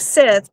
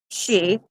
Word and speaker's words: Síth: I knew the second part that was uh, you know, spelled like Sith, but it's she.